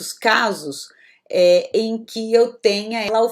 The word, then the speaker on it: e: Eu sou brasileira e a conjunção e em português, embora eu escreva com e, eu vou pronunciar i também, ok?